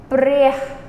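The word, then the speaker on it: ព្រះ: This, once again, that U ends with breh, breh, breh. And your accented syllable is the beginning. Breh, breh. Okay, slow. Breh, breh, breh, meaning God.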